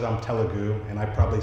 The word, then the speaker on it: Telugu: And so I met my wife, and she said I'm Telugu, and I probably said Telugu.